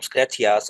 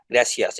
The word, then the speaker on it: gracias: new world these include the pronunciation of c and say as the in Madrid gracias thank you become scratchyas as opposed to gracias in Latin America so it develops something